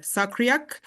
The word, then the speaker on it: SACRiAC: is the sacri project the acronym that uh uh is s a c r i s c we we pronounce that sakriak and it's strengthening adaptive